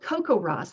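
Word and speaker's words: CoCoRaHS: schools all over the place definitely it's called Coco Ross that's how you say it it's an acronym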